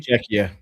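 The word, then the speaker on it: Czechia: Checka.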